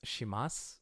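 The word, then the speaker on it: します: You'll notice that these are sus at the end, but I'm saying mas. That's a quirk of pronunciation.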